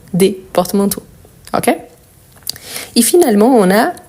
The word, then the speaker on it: porte-manteau: Donc, porte-manteau, la prononciation du mot, isolément, plus ici, ça ne change pas. Par contre, ici, l'article, il change et ça change tout. Donc, un porte-manteau, des porte-manteaux.